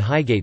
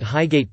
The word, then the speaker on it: Highgate: Announcements at Highgate Tube Station uses the alternative pronunciation of ht, where the final syllable matches the last syllable in frigate.